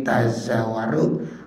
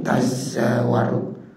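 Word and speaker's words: تَزَاوَرُ: Jadi ini tazawaru boleh dibacanya bitasdidi wa tahbibi. Kalau tasdid tazawaru, kalau tahbib tazawaru.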